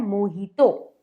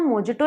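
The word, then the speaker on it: mojito: जिसका नाम होता है मोहितो, मोहितो। अब स्पेलिंग जो होती है वो होती है मोजिटो, पर इसे हम मोजिटो नहीं बोलेंगे आज से हम इसे बोलेंगे मोहितो, मोहितो।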